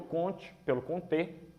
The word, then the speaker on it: Comte: A gente está começando pelo Comte, que é a pronúncia em francês, mas não tem, a gente tem liberdade, para falar, alguns falam Comte, ou, por ser francês, Comte.